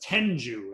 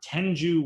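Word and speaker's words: tengu: about this mythological creature and his name was tenju it's spelled t-e-n-g-u now depending on which picture you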